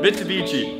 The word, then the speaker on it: Mitsubishi: beachy shaft here dude how do I even pronounce it Mitsubishi and I don't know much about clubs I